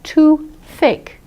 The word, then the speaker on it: toothache: What I did was, I tied the TH and the A together, because the A is a vowel. So I can say, instead of saying TOOTH-ACHE, I almost said TOO-THAKE, TOO-THAKE, TOO-THAKE.